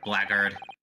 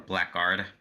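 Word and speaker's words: blackguard: at you you blackhearted blackard or blackard what yeah blackard yeah I think honestly they're both valid CU I've heard blackard be used before so I think honestly they're both uh valid pronunciations yeah is tomato tomato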